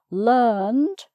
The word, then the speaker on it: learned: So this time the vowel sound stays the same, and it's just the D or the T at the end that changes, as well as the spelling, of course.